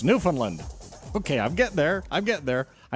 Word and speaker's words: Newfoundland: I'm not supposed to say Newfoundland. They'd kick me out of here. You'd lose me as your host with the most. So it's Newfoundland.